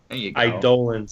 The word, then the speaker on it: eidolon: Lords of the eidolons iolan there you go idolan that's how you pronounce it that's how you pronounce